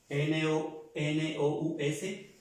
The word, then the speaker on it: nous: Nosotros en francés se escribe N-O-U-S y se pronuncia muy fácil. Nous, como si en el español fuera una N con una U. ¿De acuerdo? Así, como si en el español fuera la N con la U.